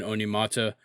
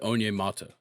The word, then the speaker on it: Onyemata: We pick up David Onyemata.